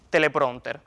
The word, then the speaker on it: teleprónter: Conviene recordar además que, como se ve, se escribe con tilde en la O, pues se trata de una voz llana terminada en consonante distinta de N o S.